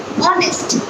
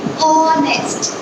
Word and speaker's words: honest: And I say honest. I have pronounced O sound. I have not pronounced H sound. And we are focusing on the pronunciation, right? So we say honest.